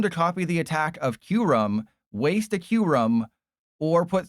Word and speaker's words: Kyurem: I'm forcing them to copy the attack of Kyurem, waste a Kyurem, or put 3 energy on a Slowking.